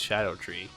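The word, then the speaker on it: Scadutree: fragments or Shadow tree I think it's Shadow tree just because of the way they want us to pronounce it rather than how it's spelled I recommend a weapon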